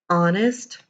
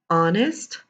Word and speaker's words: honest: with it was honor honest air herbal you do not pronounce the h over here at all the h over here